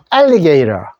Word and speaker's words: alligator: alligator인데 요거 모음 사이에 리을 발음으로 러 발음해 주면 좋습니다. 요렇게 배워두십시오. 처음 보시는 분들 alligator, alligator, 악어입니다.